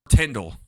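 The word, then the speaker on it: Tindwyl: I love their romance with each other, but I also love their views of Elend and how Tyndall. It's not Twindle because there's no W.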